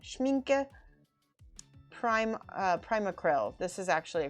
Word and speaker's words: Schmincke: so i got some schmenke schmenke there we go i'm pronouncing it wrong schmincke prime primacryl this is